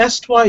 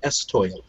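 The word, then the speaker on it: estoile: uh secondary or secondary the esty is spelled e-s-t-o-i-l-e and if you ever meet someone who speaks fluent french and you want to make them jump and shutter you call it an estoy um great it's great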